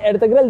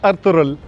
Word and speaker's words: Ertuğrul: और सर आपसे एक सवाल है, सर आपने एर्तुगरुल देखा है? अब्दुल्ला माइंड नहीं कीजिएगा, मैं इसका प्रोनाउंसिएशन सही कर दूंगा। इट्स अर्तुगरुल।